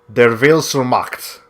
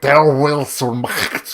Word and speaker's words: Der Wille zur Macht: The way you pronounce that, I just googled this. The way you pronounce that subtitle is Der Wille zur Macht. I know it looks German, it looks complicated.